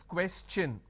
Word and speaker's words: question: is sure sound no when i have the word question the t i o n becomes cha no so it becomes question all right so please keep